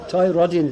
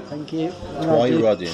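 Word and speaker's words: Twynrodyn: goodness me, Ballai Glass, is that how I pronounce it? Glass. In Twin Rodin Road. This is getting worse. Twyrodin. Twyrodin, thank you. Twyrodin.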